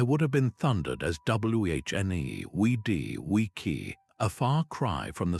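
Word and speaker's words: Veni, vidi, vici: The restored pronunciation is guttural and sharp with hard C's that sound like K's and V's pronounced like W's. Veny vidi vis I would have been thundered as wh ne we d we key.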